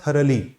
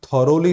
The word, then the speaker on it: thoroughly: एक शब्द सुना होगा थरली, उसको शायद आप थॉरोली ना पढ़ते हो बिकॉज स्पेलिंग यही होती है THOROUGHLY। थरली उसका साउंड है, थरा और थरली।